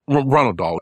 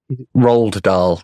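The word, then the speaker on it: Roald Dahl: he he tells kids Ronald doll the off yeah Roald yeah what did I say his name wrong what his name rald doll not Ronald doll Ronald doll God damn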